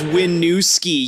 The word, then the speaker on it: Winooski: Number nine is Winooski. It's pronounced as Winooski, you idiot.